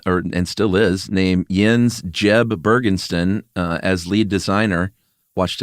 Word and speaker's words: Jeb: still is, named Jens Jeb Bergensten as lead designer. Watched a few interviews with this guy. Mm-hmm. Is it pronounced Jens? It's definitely Jens, but it's also Jeb and not Yeb.